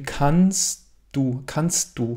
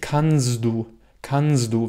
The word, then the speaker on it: kannst du: Ein Deutscher sagt zum Beispiel kannst du. Dieses D wird fast wie ein T ausgesprochen. Also dieses kannst, das T beeinflusst das D. Du sagst nicht kannst du, wie auf Französisch.